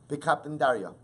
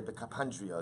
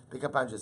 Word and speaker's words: Bekapandria: goes ahead and leaves Bekapandaria. Suppose, or I should say Bekapandria is the right pronunciation. Bekapandria.